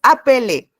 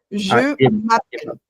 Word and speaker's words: je m'appelle: Sí, bueno, pero no es apelé. Apelé sí se pronuncia, pero en el tiempo presente es appel. Je m'appelle.